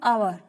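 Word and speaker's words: hour: एन आवर, एन आवर, जैसे कि एच इसमें साइलेंट है और अ की आवाज आ रही है तो क्या करेंगे, एन का यूज करेंगे।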